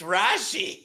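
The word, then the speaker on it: Rashee: hold up rashy rice it's rashy it's rashy rice rash rashy rice rash rashy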